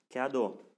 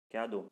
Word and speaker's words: cadeau: Cadeau. A, K, E plus EAU. Si vous avez bien regardé ma deuxième vidéo, se prononce comme O bien fermé. Cadeau.